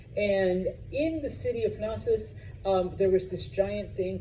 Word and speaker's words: Knossos: The capital city of Crete is the city of, I say Knossos just to be a weirdo, but it's actually Knossos. The K is silent, as in most Greek words.